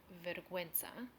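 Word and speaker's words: vergüenza: silent and the word verguenza which the U is pronounced more of like a w sound when it has the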